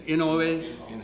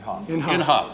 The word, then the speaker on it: Inhofe: How do you say his name? Inouye? Inhofe, excuse me.